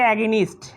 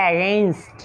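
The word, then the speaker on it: against: Dash take immediate, আমাদেরকে নিতে হবে ইমিডিয়েট তাৎক্ষণিক, স্টেপস পদক্ষেপ, এগেনস্ট বিরুদ্ধে, এটাকে আমরা বলি অনেকে অ্যাগেনিস্ট, অ্যাগেনিস্ট বলি, আসলে এটাকে অ্যাগেনিস্ট বলার সুযোগ নাই, এটা সঠিক উচ্চারণ হচ্ছে অ্যাগেইনস্ট।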